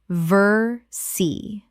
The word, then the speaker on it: Versailles: Correct pronunciation, Versailles. 2 syllables only in English, and the les are completely silent.